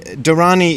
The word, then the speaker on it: dharani: which is not much I know about the dharani is spelled d-h-a-r-a-n-i and they are really ancient sort